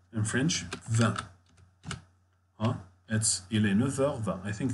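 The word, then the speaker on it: neuf heures: Comment dire it's 9? How to say it's 9? Il est 9h. And pay attention, we pronounce here this F like V.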